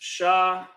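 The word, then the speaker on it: שָׁמַר: Shamar. For those of you that don't know what that word means, it's pronounced shaar.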